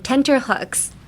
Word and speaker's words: tenterhooks: And tenterhooks. I guess, emphasis on both the T's, tenterhooks.